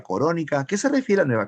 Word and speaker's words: Corónica: El título se escribe así, Nueva Corónica. Así lo tituló el autor, Nueva Corónica.